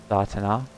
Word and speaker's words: Datana: Datana. Datana. Datana. Long A and stress on the last nah.